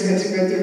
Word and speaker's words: Chatzipetrou: Vassiliki, I'm going to say your name, but maybe I will not pronounce it the right way. It's Chatzipetrou. Is it? Sounds about right. It's Chatzipetrou. Thank you very much. Chatzipetrou, but it's always okay.